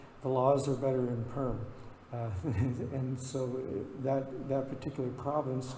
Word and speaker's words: Perm: We ended up in the city of, it looks like Perm, like a permanent, or permafrost is spelled the same way in English, but it's pronounced Perm, okay?